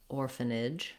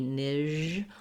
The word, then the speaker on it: orphanage: So it can help you to think about a word like ridge because it's a similar sound. So you can try ridge, nidge, orphanage, orphanage. And just make sure that your voice is on for that j sound and that you're pushing it out. You don't want it to be nij or nitch. You don't want it to be devoiced or be continuing.